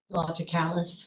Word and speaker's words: Logicalis: Included in tonight's bill, there is a check for, I'm not sure how to say this, local, LOGICALS. Logicalis.